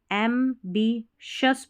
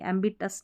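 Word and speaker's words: ambitious: Even our most एम्बिशस पढ़ना है, क्योंकि TI है ना, इसको श पढ़ते हैं, तो एम्बिशस पढ़ेंगे, एम्बिटस नहीं पढ़ना।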